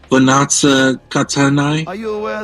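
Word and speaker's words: Vannozza Cattanei: He patronized the arts and fathered a number of children for whom he provided livings, mainly in Spain, by a Roman noblewoman, Vanazza Catanai.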